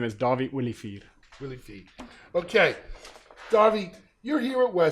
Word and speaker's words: Dawie Olivier: My name is Dawie Olivier.